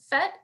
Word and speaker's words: PhET: students uh related to you were mentioning um phet is that how you say it yes okay